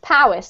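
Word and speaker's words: Powys: don't worry about it this one's pronounced Powis because this is exactly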